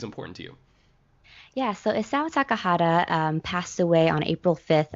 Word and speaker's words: Isao Takahata: HT, tell me about Isao Takahata. I think that's how you pronounce his name.